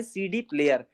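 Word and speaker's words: CD-Player: ये लिखा है सीडी प्लेयर, बट इसको जर्मन में प्रोनाउंस कैसे करना है, से डे प्लेयर, से डे प्लेयर।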